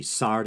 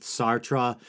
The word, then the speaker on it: Sartre: namely Jean-Paul Sartre I know some people say sard I'm going with Sartre El bear Camus some people say Albert I'm